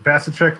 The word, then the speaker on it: Vasicek: Vasicek like cash a check.